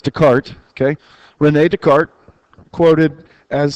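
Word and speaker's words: Descartes: It's descartis and I know that's not the right way to pronounce it. It's Dart.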